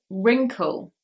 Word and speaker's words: wrinkle: Number 96, silent W at the beginning here. This is wrinkle.